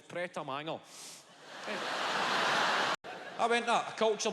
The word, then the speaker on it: Pret a Manger: They're even pronouncing it correctly. Wee man, you're fucking 12. It's Pret a Manger.